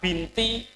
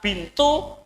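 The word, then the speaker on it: بنتُ: Misalnya kan Fatimah binti Muhammad. Orang Indonesia kan binti terus kan, aslinya apa? Fatimah bintu Muhammad. Artinya pengucapannya bintu bukan binti.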